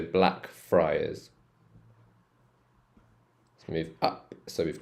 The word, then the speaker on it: Blackfriars: So this one's Friars. Friars, so Blackfriars.